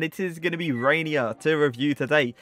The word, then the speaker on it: Reinier: is going to be rainier to review today i actually had to search up to pronunciation because trust me i thought that actually said rainer but apparently it isn't either way i was